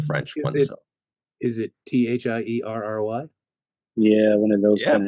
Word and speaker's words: Thierry: I was thinking French name that begins with T that Americans are afraid to pronounce.